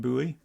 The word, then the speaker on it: buoy: as far as I can tell, most Americans pronounce it buoy, which is a little bit weird, I think. Buoyant? Boop. Are you just suggesting that if we pronounce it buoy, then it should be buoyant?